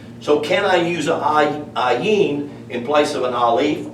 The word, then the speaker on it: ayin: The only difference in this word and this word, or, the aleph, which is the number 1, and the ayin both have an A sound.